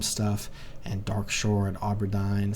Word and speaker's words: Auberdine: and dark Shore and auberdine some people pronounce it Aberdine where I like learned